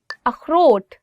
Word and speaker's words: اخروٹ: اخروٹ, walnut. اخروٹ. So this word khe, it also comes from your, I would say like throat. So you'll really have to do is like اخروٹ.